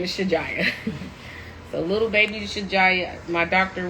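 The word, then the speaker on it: Shajiyah: her full name is shijaya s-h-a-j-i-y-a-h in Arabic it's pronounced Shazia but we're American so her name is shijaya so little baby my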